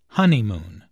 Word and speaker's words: honeymoon: does look absolutely beautiful listen to the stress on honeymoon there are three syllables in honeymoon with the stress on the first syllable honeymoon this content word is